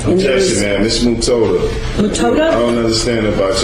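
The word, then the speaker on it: Mutota: Miss Mutoda. Mutoda? I don't understand about your phonetics or how you pronounce words. Mutoda. Mutoda? Not Mutada. I thought you had told me it was M-U-T-A-T-A. No, M-U-T-O-T-A.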